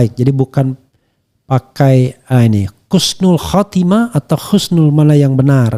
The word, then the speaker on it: husnul khatimah: Namun banyak yang masih bingung mengenai penulisan pengucapan kata yang benar ee sebenarnya dan pengucapan yang tepat adalah husnul khatimah. Bukan khususnul khatimah ya.